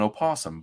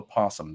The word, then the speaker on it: opossum: And some people will think it's called an opossum, but it's just called a possum. The O is silent.